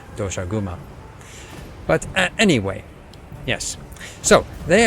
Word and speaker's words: Doshaguma: I feel it should be pronounced in the Japanese way which would be doshauma but anyway yes so